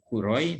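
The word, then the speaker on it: 黒い: donokerto dari masker jawabannya ini kuroi ini dibacanya kuroi melambangkan hitamnya yo yo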